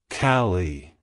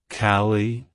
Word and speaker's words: Kallie: name it's pronounced as cie cie cie to pronounce it correctly emphasize the first syllable and pronounce the second syllable with a short e sound like Hello cie Goodbye